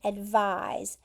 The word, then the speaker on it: advise: So advise, notice, has a Z sound at the end, advise, and it is a verb.